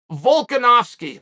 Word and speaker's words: Volkanovski: The name was pronounced Volkanovski, by the way.